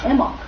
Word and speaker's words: Imbolc: the Earth itself the name of this holiday emok which is spelled I am be a well science uh